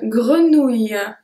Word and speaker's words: grenouille: Try really to focus on the length of the word when I pronounce it. Bouteille. Bouteille. Numéro 5, une grenouille.